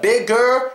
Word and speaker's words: bigger: So instead of bigger, it's bigger. Same thing with faster, same thing with dealer.